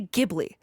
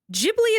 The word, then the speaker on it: Ghibli: I have heard Japanese people say Ghibli and Japanese people say Ghibli, okay? I looked it up. Ghibli is technically what Miyazaki says most of the time, but it comes from the Italian word, which is Ghibli.